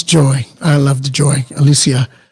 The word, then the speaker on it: Alysia: i'll be messing with you that's my name alicia yeah okay thank you for saying it right